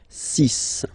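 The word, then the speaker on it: six: And be careful here, because even if it's ending with this X, well, you'll have to pronounce it like S, okay? So you get the 6 pronunciation. 6, 6.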